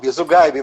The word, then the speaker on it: Zugaib: Me corrija se a minha pronúncia não estiver correta. É Zugaib, mas não tem problema, tô acostumado.